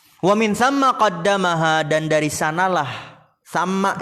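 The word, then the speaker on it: ثَمَّ: Dan dari sanalah tsamma ini dibacanya bukan tsumma.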